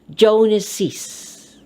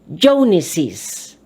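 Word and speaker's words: Jones's: apostrophe s this time you have to read it by sounding an extra syllable jonases again jones mr jones j-o-n-e-s traditional is joneses we add apostrophe s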